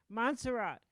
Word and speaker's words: Montserrat: If you were living in, if you're living in the Caribbean, where there's about, how do you pronounce that place? Montserrat. Montserrat.